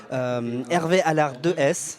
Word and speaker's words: Hervé Allart de Hees: Nous sommes toujours à l'Université d'été du MEDEF 2015 et avec nous pour continuer à parler Hervé Allard de S, je prononce bien.